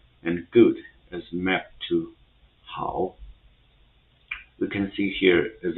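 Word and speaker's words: hao: it's h a o so h has the same pronunciation in English and a o is a vowel combination. It will have the same pronunciation as o in English word now. So if we put h and o together. So it will be pronounced as how how.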